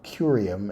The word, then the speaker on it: curium: uh curium and serium we have a hard C in curium and a soft C in serium C I think that works 115 down.